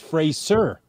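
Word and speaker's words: Fraser: smart person on television she was wrong I know and I yelled at the TV I go no it's phrase sir excellent thank you for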